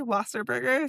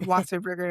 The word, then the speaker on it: Wasserburger: so they can Wasserberger. So, spelled like how you think it is. And then Wasa Burger is W A S S E R B U R D E R. Like a cheeseburger.